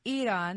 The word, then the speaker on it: Iran: It's Iran. That's how the people of Iran say it.